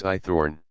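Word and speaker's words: Haythorne: answer to a question my name's I Thorn what I asked I Thorn sir I Thorn spell it h a y t h o r n e i Thorn oh I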